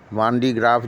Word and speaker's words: van de Graaff: तो नाम से ही स्पष्ट है, वान डी ग्राफ जनरेटर, जिसको हम हिंदी में pronunciate वेन डी ग्राफ generator के रूप में भी करते हैं।